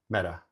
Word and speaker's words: meta: You're now pronouncing the Spanish R. What you're saying is the Spanish word meta.